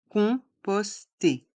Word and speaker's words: composter: Dans le mot composter, le O et le M se prononcent on, composter.